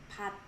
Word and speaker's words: 밭: Notice that this teeth is also one of those consonants. When it's located in the final position of a syllable, it becomes tigus sound. So you pronounce it as 밭. You don't have to try to make effort to say like 밭.